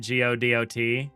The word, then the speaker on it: Godot: I actually fully understand and actually kind of agree with the go dot pronunciation because go dot is like robot and that's like what this little guy is, right?